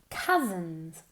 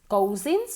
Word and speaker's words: cousins: So, cousins. Cousins, no. Se pronuncia como si fuera una A. Ni una O, ni una U.